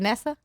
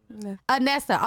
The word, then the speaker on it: Inese: i'm not pronouncing that is it nessa anessa okay sorry anessa please bring anessa which